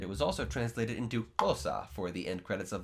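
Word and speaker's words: Xhosa: was also translated into fosa for the end credits of the lion king 2019. spelled with an xh which makes a clicking sound is a south african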